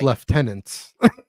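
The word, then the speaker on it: lieutenants: Um and then it's kind Joel they're pronounced left tenants.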